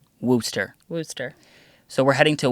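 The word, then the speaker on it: Worcester: heading to remember I want to say no pronounce it correct I got this yep the map would say Worchester Massachusetts Google would say no no no we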